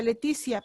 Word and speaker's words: Letizia: españa la reina letizia ella sí se pronuncia letizia porque hubo un error a la hora de su nombre leticia es con c pero ya le pusieron con ese entonces sí ya no puede ser letizia porque no es una